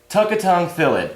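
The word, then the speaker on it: Tukatongue Thallid: It's pronounced Tukatang Thalid.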